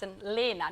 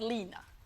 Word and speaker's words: Annalena: But it's hard, it's Annalena, not Lena. Annalena. Yes. That sounds And I said Lena.